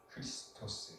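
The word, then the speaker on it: Χριστός: 메시아 자가 들어가요 메시아는 그리스도다 그리스도 그리스도는 그리스도 발음을 하는데 치발 크리스토스 크리스토스 그리서 바음 그리서 바 그래서 메시아를 그리스도로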